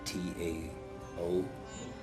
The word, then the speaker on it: Tao: For instance, the Taoists and the Tao of sex, and that is Tao, but it's pronounced with sounding like a D.